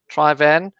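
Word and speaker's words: Traigh Bhan: I don't know how everybody else pronounces it, but apparently the official way is Trivan. It's now what they call real whiskey. It's pronounced Trebien.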